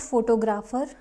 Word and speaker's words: photographer: the same family that is photographer photographer not photographer not no confusion it's photographer I want to